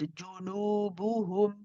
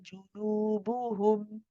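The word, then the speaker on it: جُنُوبُهُمْ: Despite the noon having a wow after it and being prolonged, it's still the same oo sound, just longer. So in this case, it's junubuhum, junubuhum. Sister Isha, let's try from the beginning.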